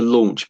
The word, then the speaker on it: launch: So, there's an L sound at the beginning. So, like that. And then after that, there's a sort of a or kind of a sound. Or, a u often makes an or I think